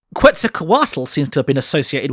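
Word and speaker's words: Quetzalcoatl: most notably Quza Kuatal. At least that's how I was taught to pronounce it in primary school. Quz Kuatal seems to have been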